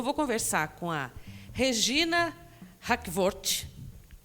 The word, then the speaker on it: Hakvoort: E a Regina Hackvoort e a Erna vão me falar se eu falei certo o sobrenome. Eu acertei a pronúncia? Acertou, Hackvoort.